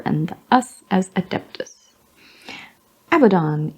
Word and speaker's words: Abaddon: us as a dentist Abaddon is Abaddon though some might pronounce it Abaddon which has a pleasing double meaning oh he's a bad in that one Abaddon Abadan macragge crag yep Acadia cat urchin cat surgeon he had a chin it says er but